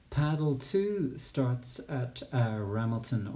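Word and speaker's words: Ramelton: two starts at uh ramilton or a melton as the locals say um it's a beautiful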